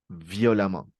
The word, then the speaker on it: violemment: L'adverbe de manière, violemment. Oui, ici, la prononciation, c'est violemment.